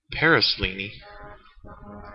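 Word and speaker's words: Paraselene: Paraslini. That is actually the correct way to pronounce it, surprisingly.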